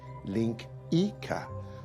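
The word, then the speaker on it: linguiça: laughs Portuguese national dish it's spelled linguica but it's pronounced link Ika probably I think this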